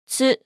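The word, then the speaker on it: ズ: Okay, let's add a dakuten to tsu as well. It's pronounced as zu. Listen carefully. zu zu zu zu Chiisai tsu is also available for Katakana as well.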